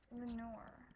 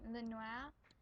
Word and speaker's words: Lenoir: So, my mom, she lived in this little area here in a town called Lenoir. It's actually a French name, Lenoir. That's how it should be pronounced, but it's pronounced Lenoir.